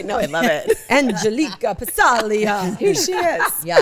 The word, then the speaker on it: Passaglia: is Chris called them pasiglia for years. Oh, that's right. I think as a joke. No, because he didn't know how to pronounce it. Well, it's Italian. The G is silent.